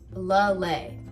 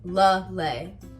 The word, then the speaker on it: Lele: Lele. Think of a lei, like the ones in like Hawaii. Lele.